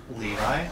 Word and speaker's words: Levi: His name is spelled L-E-V-I. Levi?